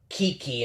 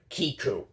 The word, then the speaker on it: Kiku: present and for kiku i mispronounced her name by calling her kiki instead of kiku see this is what